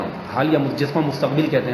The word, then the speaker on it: مستقبل: حال یا جس کو مستقبل کہتے ہیں، حالانکہ درست تلفظ مستقبل ہے، یہ بھی ہم غلط بول رہے تھے مستقبل، لیکن ہمارے اردو